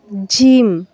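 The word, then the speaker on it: جيم: জিম জিহ্বার মধ্যখান তার বরাবর উপরে তালুর সঙ্গে লাগিয়ে। আমরা এর আগে ইয়া পড়েছিলাম, ইয়ার মাকরাস এবং জিমের মাকরাস একই হবে। তবে জিম উচ্চারণের সময় তালু এবং জিহ্বাকে একটু শক্তি প্রয়োগ করতে হবে। জিম, জিম। ইয়াটা ছিল নরম, জিমটা হবে শক্ত।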